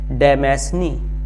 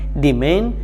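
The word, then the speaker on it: demesne: की तरह से देखें तो पढ़ने में य आता है डेमेसने लेकिन इसका जो प्रोनंसिएशन है वह बिल्कुल अलग है इसका प्रोनंसिएशन है डिमन या डिमन इसका मतलब यह हुआ कि जैसा इसके अंदर स्पेलिंग है उस तरह से हमें इसको प्रोनाउंस नहीं करना है तो जो डेमेसने लिटरली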